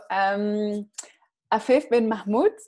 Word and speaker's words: Afef Ben Mahmoud: Afef Ben Mahmoud, do I say it right? Yes, exactly.